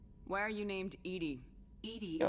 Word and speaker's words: EDI: EDI Go. is the phonetic pronunciation of EDI. That is an acronym for Enhanced Defense Intelligence.